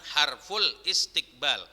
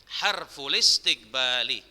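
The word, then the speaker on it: استقبال: Nah istiqbal ini adalah hamzah wasal, jadi cara bacanya bukan harful istiqbal, tapi harful istiqbali, harful istiqbali.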